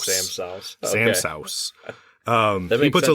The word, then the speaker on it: Sa'House: So when you look at the writing, it looks like Samsa house. But the way that he recommends it pronounced, and the way that if you listen to him in any iteration of social media or recording, it's Sam Sauce.